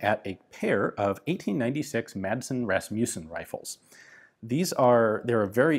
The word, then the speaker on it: Madsen: This would turn into the Madsen, or as it's properly pronounced in Danish, the Madsen, light machine gun.